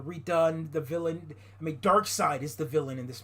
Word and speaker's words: Darkseid: I mean, Darkseid is the villain in this movie, not the other guy.